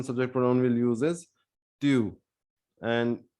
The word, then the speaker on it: tu: pronoun will use is tu and you can pronounce it like few remove f and say tu put t in place of f and say tube good so next we